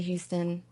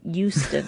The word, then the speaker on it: Houston: you tonight and rich rich pronounces it euston you sure that's the same place right you do the H so I think that's how half and half I guess Houston my daughter lives here now he